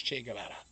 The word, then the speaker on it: Che Guevara: I kind of like the way mark says che guevara um that is the correct at least as far as I understand I believe that is a correct way to say it if you really